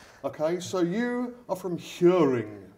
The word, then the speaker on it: Hjørring: We're going to start off, we'll get the horrible pronunciations out of the way first. Yeah. Right? Okay, so you are from Hjørring. Hjørring, yeah.